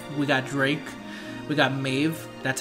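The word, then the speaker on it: Medb: frantic we got we got drink we got Maeve that's how you pronounce her name we've got Quetzalcoatl we got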